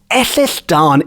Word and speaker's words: Ellylldan: over the centuries but in wales the word ethisdan is spelt it's one word e double l y